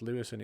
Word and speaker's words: Levison: Even though it's pronounced Lewison, it's spelled Levison.